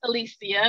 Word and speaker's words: Alicia: It's pronounced Alicia, not Alicia, like Alicia Keys.